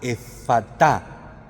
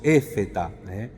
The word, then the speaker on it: efatá: tocó la lengua, diciendo, en arameo se pronunciaría más como una A, efatá. Nosotros lo castellanizamos un poco y decimos éfeta, es decir, ábrete.